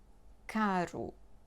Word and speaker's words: caro: Because some words just change the meaning if you pronounce one or two R's. Carro, caro.